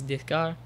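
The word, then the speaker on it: Descartes: dear is how you if you say it with a French accent is desar uh I'm American taking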